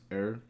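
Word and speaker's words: Herr: Because I know in German, the H-E-R-R part is pronounced er.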